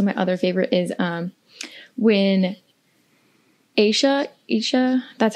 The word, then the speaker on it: Aisha: And then also my other favorite is when Aisha, that's how you say her name, right? Aisha, yes, thank you.